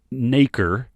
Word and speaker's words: nacre: so i'm looking up n-a-c-r-e it's you pronounce it naker oh and it's um